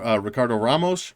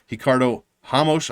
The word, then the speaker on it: Ricardo Ramos: round win over uh ricardo ramos actually i think he is brazilian as we discovered a few weeks ago ricardo hamosh i mean as i discovered uh i was pronouncing his name incorrectly silva de andraj big